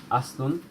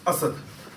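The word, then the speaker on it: أسد: Yeah, so, Aslun, It's Asad. Asad, Yeah. So if you put a fatha there, Asadun. Asadun, Yeah. Asadun, Yeah, we're doing page 51 at the moment.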